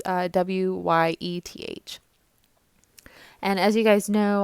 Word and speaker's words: Wyeth: I believe is how you say his name. It's Wyeth.